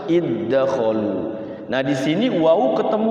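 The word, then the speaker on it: ادخلوا: Itu jadinya tidak qalqalah, masuk kepada huruf yang depannya langsung seperti iddakhalu, dal ketemu dal langsung, tidak boleh dibaca iddakhalu, tidak boleh, tapi bacanya langsung masuk iddakhalu.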